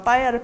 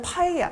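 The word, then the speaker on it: paella: 영어에는 된소리가 없어요. 영어는 프예요, 프. 그래서 그러면 그래도 들으면 할 수 있지 않아요? 아니에요. 그래서 그 미국 친구들 같은 경우가 빠에야를 파에야 이렇게 얘기해요.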